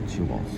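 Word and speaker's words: Chihuas: This is Chih like Chihuahua. Chias Chias. So I looked up Chihuahua spelled with the same just cut off.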